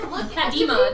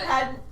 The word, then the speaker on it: Padmia: said Padima to begin with, but Padmia. Padmia. We'll go with Padmia.